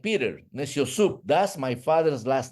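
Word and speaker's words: Neciosup: My last name is Neciosub. N like Nancy, E like Ethan, C like Charles, I, O, S like Sam, U, P like Peter. Neciosub.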